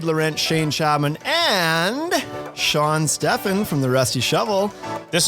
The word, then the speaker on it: Stefan: It's not French. Not Stefan or something? Yeah, no, it's just Stefan.